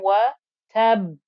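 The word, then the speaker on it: وَتَبَّ: You've got tab, and that final noise comes from the second ba with the sukoon getting a qalqala.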